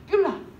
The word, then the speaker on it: 뷸라: 아까 뷸리라고 읽었는데 뷸라.